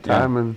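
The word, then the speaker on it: Tymon: Is it Timon? T-Y-M-O, T-Y-M-O-N. Timon. Yeah, Timon.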